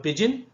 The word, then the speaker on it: pidgin: And then you have pidgin. Pidgin is pronounced as pigeon. Okay, D is silent here.